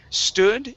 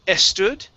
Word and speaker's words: stood: next up this is stood instead of estud okay take off the eh stood nice okay uh